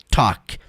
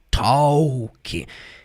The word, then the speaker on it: talk: Gente, não é porque talk tem aquele L ali, ó, que você tá vendo ali, talk, que você vai pronunciar com esse som do L que eu falei agora. Talk to the moon. Talking to the moon. Não. Você sabia que a palavra walk, talk, calm, esses ls são mudos?